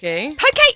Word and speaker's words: poke: It's pronounced. I don't care how anyone says it in the studio or how they may have said it this morning. It's poke.